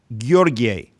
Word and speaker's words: Gheorghe: I'm talking to Gheorge Ignat, or as it's pronounced in Romania, Gheorghe Ignat from Romania.